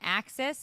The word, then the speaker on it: AXS: Okay, well, you can grab tickets now on Axis.